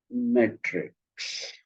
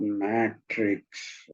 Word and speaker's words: metrics: And they concentrated their attention of research on metrics, not matrix, which the Americans pronounce matrix. I'm talking about metrics, numbers, metrics. Okay, metrics.